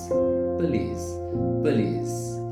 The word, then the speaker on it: police: Many people say police, but that's not correct pronunciation. The correct pronunciation is police.